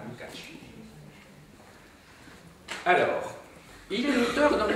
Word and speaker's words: Lukács: Mais c'est Lukács. Donc avec un accent, ce qui correspond à un accent aigu, mais c'est pas un accent aigu, évidemment, sur le A. Et le C, ça se prononce tch. Hein, Lukács.